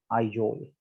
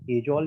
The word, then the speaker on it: Aizawl: आइजोल, AIZAWL, आइजोल, एजोल या आइजोल इसको pronounce करते हैं।